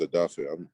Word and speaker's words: Odafe: is my middle name my first name is adafi i'm nigerian descent so you know people were having trouble you know pronouncing dafe adafi so you know i went